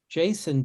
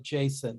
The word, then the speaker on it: JSON: of funny pronunciation i i call it jason not json because i like i